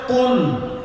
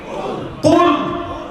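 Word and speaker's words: قل: শব্দটা লক্ষ্য করেন, শব্দ হচ্ছে কুল। শব্দ কি? কুল। এটা কফ উচ্চারণ করতে হবে।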